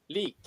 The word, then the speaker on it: Lik: sound is a little bit fresh yeah it's leak ah click okay yeah l i k okay